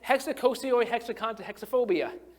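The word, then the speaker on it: hexakosioihexekontahexaphobia: being scared of the number 666, and it's hexacosioi hexaconta hexaphobia.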